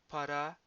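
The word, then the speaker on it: παρά: Para, with the accent on the last syllable, should not be confused with the adverb para, with accent on the first syllable, which is used in the construction para πολύ. So too much or very much.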